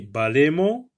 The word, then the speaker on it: balayement: Regardez, balayer, vous voyez, balayer, balayement, vous voyez, vous voiement. Ici, le E ne se prononce pas.